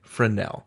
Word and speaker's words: Fresnel: that in the us you don't say the s you say it fresnel accent on the nel anyway we are trying